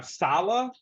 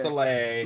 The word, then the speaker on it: Saleh: Salah?